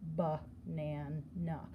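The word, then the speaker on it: banana: That's making the schwa sound, ba-nan-na.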